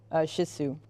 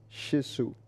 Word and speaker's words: Shih Tzu: Shih Tzu. Yeah. Okay. It's spelled funny. It does sound like shit, but it's not. I was thinking it sounds more like Sisu, like the coach or old player.